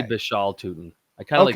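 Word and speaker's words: Bhayshul: breaking this down together, Bayshal, is it Bayshal? How you pronounce it? I've heard Bishal and I've also heard Bayshal. So I just say Bishal Tootin.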